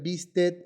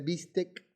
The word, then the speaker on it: bistec: Pronunciar bistet en vez de bistec, ¿no?